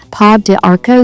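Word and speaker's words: pau d'arco: I also want to talk about a tea, and this one is really hard to pronounce, but it's pa de arco tea.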